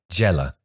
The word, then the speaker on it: Zdjelar: It's spelt Zdjelar. Say that again. Zdjelar. He's Serbian. Djela. So Sasha Djela.